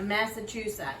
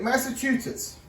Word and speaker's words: Massachusetts: or a massachus a massachusett that's a mouthful too goodness gracious okay so guys real quick Massachusetts you said it wrong Massachusetts Metts okay has almost 200